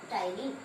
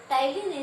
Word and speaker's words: ptyalin: Salivary gland secretes the enzyme ptyalin. Here P is silent. Ptyalin is the enzyme.